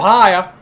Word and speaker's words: Ohio: Ohio. You got weeds in Ohio.